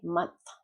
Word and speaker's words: month: Okay, month. So it can be tricky when the TH is at the end.